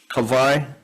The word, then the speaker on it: Kawai: I pronounce your name differently because, as you well know, regional pronunciations are a little bit differently, but I'll respect your pronunciation. I'm from Kohala. We say Kauai.